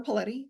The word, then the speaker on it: Paletti: I'm Paletti, rhymes with spaghetti.